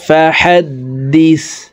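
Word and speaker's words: فَحَدِّثْ: ওয়া আম্মা বিনিয়ামাতি রব্বিকা ফাহাদ্দিস। এই দাল জজমওয়ালা সাকে একবার ধরবে, দাল সা জের দিস, ফাহাদ্দিস রব্বিকা ফাহাদ্দিস।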